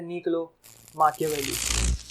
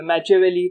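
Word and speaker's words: Niccolò Machiavelli: अब भारतीय लोग इसको बोलेंगे निकोलो मैकियावेली, ठीक है, या मैचियावेली भी सुना है हमने। इनका असली प्रोनाउंसिएशन है इटालियन में निकोलो माकियावेली, ठीक है, निकोलो माकियावेली।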